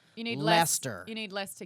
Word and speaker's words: Leicester: Lester. Lester. Lester. Lester. Well, in my Oh yeah, because Gloucester is pronounced Gloucester and it's spelled Gloucester.